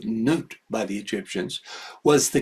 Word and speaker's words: Nut: Synthesizing these two is noot. By the way, modern uh uh uh Egyptologists spell it nut.